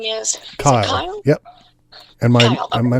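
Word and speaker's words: Cyle: try tell me what your first name is kyle yep and my my name is spelled funny it's a c-y-l-e okay and my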